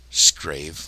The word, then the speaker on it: Scrave: Scrave, like scrape.